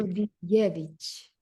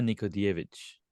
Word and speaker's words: Nikodijević: So I was gonna say Yeah, Nikodijević, right? But you said because J, what you call J in Serbian is pronounced Y. it's like Nikodijević. Jević. Okay. Nikodijević.